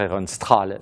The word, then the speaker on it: Ehrenstrahl: Cette représentation de Charles XI, donc c'est toujours Ehrenstrahl, hein, on doit dire Ehrenstrahl, on ne fait pas la prononciation allemande. Ehrenstrahl en Suède, ce peintre célébrissime qui nous représente Charles XI en Apollon.